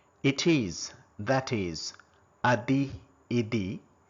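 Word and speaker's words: et: It is, that is, adi, idi, say. There is, there are, ikkada undi, unnayi, iliya, and, mariyu, a, we don't pronounce T, a, but, kani, may, we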